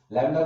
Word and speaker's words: lambda: इसका सिंबल है लैम्डा, wavelength, wavelength देखो मैं आराम से बोलता हूं, वेवलेंथ, वेवलेंथ इसका सिंबल है लैम्डा, लैम्डा को पढ़ो LAMBDA, लैम्डा, इसमें बी साइलेंट है, LAMBA, ऐसे करके लिखते हैं इसको, ऐसे और ऐसे, ठीक है, लैम्डा।